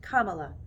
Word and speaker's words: Kamala: we get started first my name is pronounced kamala like the punctuation mark it means lotus flower